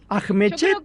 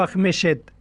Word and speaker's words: Ajmechet: bien acá estábamos dudando Cómo se pronuncia tu apellido es ahet o ahet yo lo pronuncio yo creo que apellido se inventó en el momento en el que mis abuelos entraron a la Argentina porque de hecho no hay otros mechet en el mundo Así que yo lo pronuncio como se escribe pero a libre interpretación Ah Bien bien Bueno